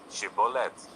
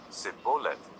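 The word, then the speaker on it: Shibboleth: If he replied, "No," they said, "All right, say Shibboath." If he said, "Sibolith," because he could not pronounce the word correctly, they seized him and killed him at the fors of the Jordan.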